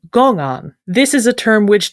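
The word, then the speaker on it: 公案: of a Chinese term which in Mandarin is pronounced gongan.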